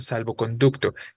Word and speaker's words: salvoconducto: No va a sonar fuerte en salvo, va a sonar fuerte en conducto, ¿no?